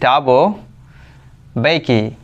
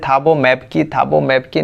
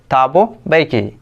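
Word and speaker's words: Thabo Mbeki: This one इज टाबो बेकी and here M is silent letter. तो बहुत लोग हैं उसको पढ़ रहे हैं थाबो मैप की नहीं पढ़ना है।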